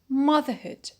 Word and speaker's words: motherhood: so nothing will happen we keep the stress as it was in the root which is mother so we say motherlands